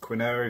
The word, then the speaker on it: quinoa: closer yep here we go asparagus avocado quinoa quinoa if you don't know how to say it